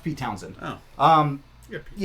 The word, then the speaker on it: Pete Townshend: Yeah, but it's pronounced Pete Townsend.